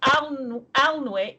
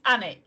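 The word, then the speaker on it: Alnwick: it's very very so alnick is a similar system it's annik you miss the l um and it's annie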